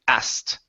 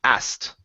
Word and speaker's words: asked: So when we have the word asked, okay, we do not want to pronounce the K. Okay, the K is silent.